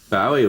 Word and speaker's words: Bowie: I always thought it was Bowie. I thought, well, it's a Scottish name, must be Bowie. But nobody in Scotland pronounces it like that. They pronounce it Bowie, I think.